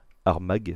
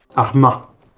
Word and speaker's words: Armagh: vous propose qu'on se déplace à pied jusqu'à Armagh, c'est comme ça que ça se prononce. Arma.